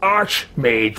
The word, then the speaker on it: Arch-Mage: you have our gratitude Arc Mage yes I I pronounce it Arch Mage but I suppose it that's fine you did say my